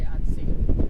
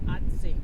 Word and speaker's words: Assateague: It'll be in the title, but I can't even pronounce. Say Assateague. What? Assateague.